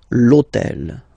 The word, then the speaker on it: l'hôtel: starts with H, but remember that in French we don't pronounce H. Okay, so basically the first sound of the word is the vowel O.